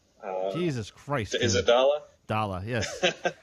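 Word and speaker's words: Daala: Dala, yes.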